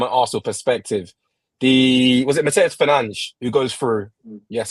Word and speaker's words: Mateus Fernandes: Was it Mateus Fernandes who goes through? Yes, I'm pronouncing it in the Portuguese way.